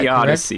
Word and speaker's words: theodicy: described and tell me give me the correct pronunciation but the word that i saw was theodicy is that the odyssey yeah so this is what i